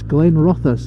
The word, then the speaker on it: Glenrothes: us with I love that's Glenn Roth us not going Ruth's and some people try